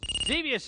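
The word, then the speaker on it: Xevious: or galaxin uh Galax okay galaxian right I mispronounced it that's correct though number two merer Blazer or zus zus zevious is right good for you number three is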